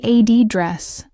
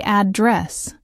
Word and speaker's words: address: If you say ad dress, you're usually talking about a location. If you say add dress, it means to speak to someone or to deal with an issue.